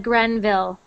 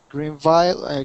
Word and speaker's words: Greenville: next one Greenville Greenville so when you read that before you said Grenville okay Greenville Greenville Greenville Greenville good